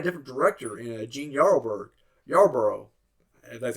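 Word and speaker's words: Yarbrough: brought in a different director and Jee yarber yarboro that's how you pronounced his name I'm bath name I'm sorry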